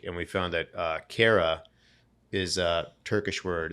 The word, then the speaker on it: kara: you know, googling and we found that uh kara is a Turkish word. It's actually pronounced uh kada in Turkish means black.